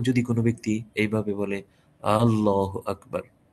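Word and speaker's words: الله أكبر: কোন ব্যক্তি এইভাবে বলে আল্লাহু আকবার এই যে আল্লাহ এর শুরুতে যে হামজাটা এটা যদি কেউ লম্বা করে পড়ে আল্লাহু আকবার নামাজ হবে না কারণ তখন অর্থ হবে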